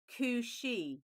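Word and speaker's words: Cù-Sìth: So the second card is actually pronounced Kushi.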